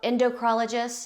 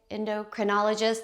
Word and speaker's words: endocrinologist: You have um hormone things going on, you go to the endocr endocrologist. Is that how you say it? Endocrinologist. That's it.